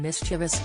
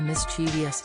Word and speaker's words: mischievous: it Pacific thank you also vital is pronouncing mischievous as it is written not turning it to mischievous and never replacing the